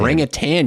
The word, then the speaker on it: orangutan: An orangutan. Orangutan. You say it wrong. There's no G. You're thinking of the orange juice.